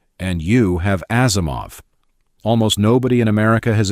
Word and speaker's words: Asimov: Isaac Asimov explained it in 1979. Take three simple English words, has, him. Of. Say has him of in the ordinary fashion, leave out the two H's and you have Asimov.